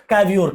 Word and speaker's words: Cavour: को ये रिस्पॉन्सिबिलिटी देंगे, जिनका नाम होगा क्या, कैवियोर। क्या नाम होगा, कैवियोर या फिर कैवोर, जो भी आप इसको प्रोनाउंसिएट कर लें।